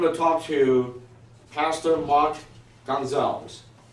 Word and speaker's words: Gonzales: Okay, brothers and sisters, now we're going to talk to Pastor Mark Gonzales. Am I pronouncing correctly? You pronounced it correctly.